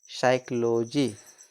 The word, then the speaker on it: psychology: साइकोलॉजी। क्या पढ़ेंगे इसको? साइकोलॉजी। ठीक, नेक्स्ट देखिए, नेक्स्ट है प्रोनाउंसिएशन रूल्स ऑफ QUE, यानी Q का उच्चारण नियम।